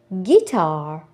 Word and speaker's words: guitar: Next, U, silent U. G லெட்டருக்கு பிறகு வரக்கூடிய U silent. Example, guess, guide, guitar, guest.